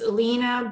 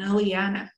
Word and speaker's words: Iliana: it's liana in in in english it's elena but i don't like the pronunciation of the lena because i'm to me it doesn't sound right i'm not an alina i'm an aliena vibrationally and iliana is